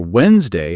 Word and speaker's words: Wednesday: And don't forget, silent letters are everywhere, like island, missing the s or Wednesday, hiding the d.